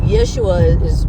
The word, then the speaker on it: Yeshua: name Jesus came from, but Yeshua is what it's supposed to be pronounced, or how it's supposed to be pronounced.